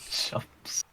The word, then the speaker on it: Chumps: Bartholomew Chumps. Chumps. Okay. It is pronounced Chumps.